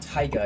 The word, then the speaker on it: Tygh: Yeah, look at Taiga. It's spelled Taiga, but it's spelled Tygh.